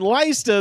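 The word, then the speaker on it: Leicester: t e r l all right so in Lista they got a thing called the spidergate cemetery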